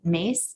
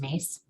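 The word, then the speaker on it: Myss: think listening to carolyn mace m-y-s-s but i think it's pronounced mace and she has a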